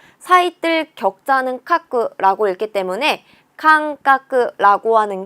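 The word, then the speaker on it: 間隔: 훈독은 아이다 또는 마라고 읽는데 간격이라고 할 때 간자는 칸이라고 읽어줍니다. 사이뜰 격자는 카크라고 읽기 때문에 칸카크라고 하는 게 간격이라는 뜻이 되는 거죠. 여기에는 어디에도 타금이 없구나. 칸카크 외워주시면 되는 거예요.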